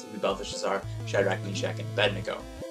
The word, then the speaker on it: Belteshazzar: I don't know exactly how to pronounce it, but I say Belteshazzar, so. Some people say Balthazar, but it's spelled very differently from Balthazar.